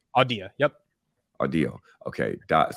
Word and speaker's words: Audea: startup company that you decided it's called um audio am I saying it right odia yep a deal okay dot so it's a-u-d-e-a